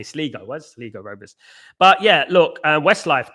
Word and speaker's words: Sligo: It's pronounced Sligo.